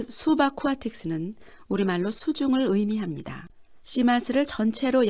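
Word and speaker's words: Subaquatiques: S 수바쿠아틱스는 우리말로 수중을 의미합니다.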